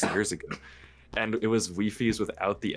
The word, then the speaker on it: Wifies: my name is that it's pronounced Wifie's, which technically there's no actual right way to pronounce it. It's up for like artistic interpretation. I just say Wifie's because that's how I read it first.